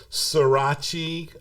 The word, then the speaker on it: Surace: But I also have they can look me up, Surace, which is the Italian pronunciation of my name, which is spelled Surace.